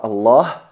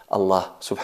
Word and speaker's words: Allah: lam de la palabra allah en todo el Corán tiene dos estados o pasa por dos procesos o hay que pronunciarla de dos formas enfatizada y atenuada cuando se pronuncia enfatizada